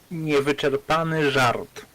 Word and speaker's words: Niewyczerpany żart: Dex, can you please pronounce the Polish translation title? Niewyczerpany żart.